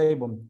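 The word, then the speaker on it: עון: Iniquidad es Avon, con B pequeña, ujú, así como la marca esa de cosméticos, Avon o ujú, Avon, se pronuncia Avon, Avon, eso es iniquidad.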